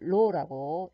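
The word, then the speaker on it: ρ: 그래서 물질의 길이가 L cm, 단면적은 A 해서 제곱cm, 저항을 옴으로 하면 저항률 로라고 읽게 되고, 로라고 읽습니다.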